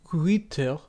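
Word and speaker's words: huître: Uiter, spelled H-U-I circumflex T-R-E, from uiste, ultimately from Greek through Latin ostrea.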